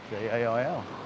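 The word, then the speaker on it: gaol: do you spell jail j-a-i-l no g-a-o-l is the British pronounce spelling of jail and it's a it's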